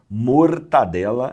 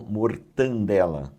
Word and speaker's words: mortadela: mortadela e não mortandela, certo? Porque muitas vezes ouvimos as pessoas falarem mortandela.